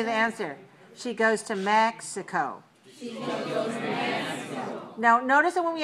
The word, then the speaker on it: Mexico: goes to mexico so mexico is three syllables stressed on the first mexico okay so the next